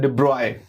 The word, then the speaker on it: de Broglie: तो डी ब्रोगली भी लोग इनको बोलते हैं, पर एक और उनका प्रोनाउंसिएशन जो दुनिया भर में लोग उसको करते हैं, that is द डी ब्रॉय, because वो राजघराने के थे तो उस तरह से बोला जाता था, उनका नाम में थी अपनी कुछ खासियत बातें।